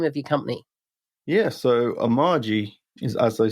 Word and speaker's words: Amagi: Yeah, so Amagi is, as I said, how I pronounce it.